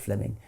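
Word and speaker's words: Fleeming: Jenkin was simply it's written Fleming but is pronounced Fleming um Fleming Jenkin was simply saying manifest facts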